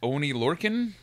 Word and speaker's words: Oni Lorcan: That promo intro lines up the opening match, which is Adam Cole, Bebe, versus Oni Lorcan. Yep. Is that, am I pronouncing Oni right?